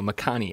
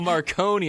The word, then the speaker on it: Makani: No, Makani, M-A-K-A-N-I. Oh, okay, right. They're these. Oh, that's what it was, Dave. I forgot. Oh, Marconi.